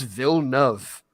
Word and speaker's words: Villeneuve: I found that, and I found a pronunciator. It's Villeneuve. It literally means new city.